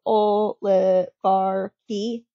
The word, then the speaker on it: oligarchy: you should be okay so oh le bar key this isn't a ch sound it is a k sound